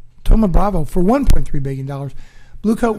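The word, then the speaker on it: Thoma Bravo: yes yes okay I had a hard time pronouncing this but it's Toma Bravo Toma Bravo for $1.3 billion blue coat was bought by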